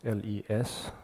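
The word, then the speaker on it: ལས: for karma which is lay you know in Wylie I think it's l-e-s or um just for pronunciation it's just l-e Le and uh in tibetan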